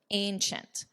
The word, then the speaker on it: ancient: Notice the pronunciation here, ancient, ch, ancient.